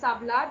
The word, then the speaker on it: hablar: Why do we call this hablar? Because H is silent, so we pronounce the next letter.